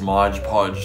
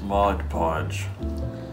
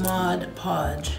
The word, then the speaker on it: Mod Podge: i thought it was modge podge too but apparently it reads mod podge so the g is silent oh mod podge yes you're right you're